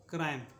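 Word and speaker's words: crime: पहले आई आया है ठीक है इसको पढ़ेंगे क्राइम इसको पढ़ेंगे क्राइम उसी प्रकार से नेक्स्ट देखिए यहां पे सी का उच्चारण होगा क सी का उच्चारण होगा क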